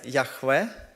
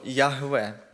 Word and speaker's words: Яхве: збігаються в думці що воно читається яхве або ягве це якраз їх чотири